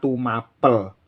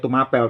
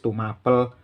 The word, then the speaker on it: Tumapel: Jadi penulisan yang ada di prasasti itu menggunakan aksara pa diberi sandangan pepet, sehingga harus dibaca Tumapel. Kalau aksara pa diberi taling itu bacanya Tumapel, tapi kenyataannya di prasasti tertulis Tumapel.